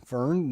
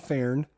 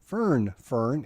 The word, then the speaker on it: Fern: Fern, not Fern. Fern, F-E-R-N, Fern.